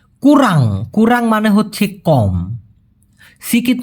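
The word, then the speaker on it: kurang: এসে দাঁড়াবে সে কুরাং কুরাং উচ্চারণ করতে কষ্ট হলে আমার সাথে একবার উচ্চারণ করুন প্লিজ কুরাং কুরাং একবারে হবে সেং কুরাং গুগুর গুগুর মানে হচ্ছে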